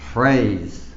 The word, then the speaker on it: phrase: op phrase phrase now the pH here it sounds like foot sound foot foot phrase so I'll write any bracket to you this is what it sounds like phrase phrase so you pronounce it phrase phrase all right number